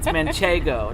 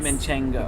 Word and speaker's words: manchego: the in the middle it's manchego not menchengo munche there is an n but it's more towards the beginning sorry excellent professor but